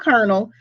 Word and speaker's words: colonel: Okay, so just remember, kernel and kernel, they are homophones. They sound the same, but they have different spellings, and there is no R in the second kernel.